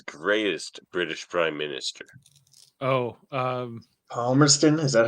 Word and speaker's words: Palmerston: Oh, Palmerston? Is that how you pronounce it? Yes, Lord Palmerston.